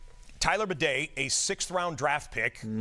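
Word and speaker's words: Badie: spelled it looks it looks like it says Baddy. B- A D I E. He pronounces it bedet since over the keep.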